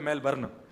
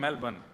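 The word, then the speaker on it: Melbourne: हमारे एक भैया बोले मेलबर्न, जो मेल को जला दे, मेलबर्न। मैंने कहा नहीं मेलबर्न, र जो है वो साइलेंट बोलो।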